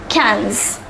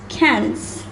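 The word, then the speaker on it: quinze: 15 is pronounced as cans the pronunciation is different from the spelling it is pronounced similar to the English word cans cans so let us say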